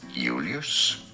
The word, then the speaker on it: Julius: It'd be said as Julius. The J is like an I.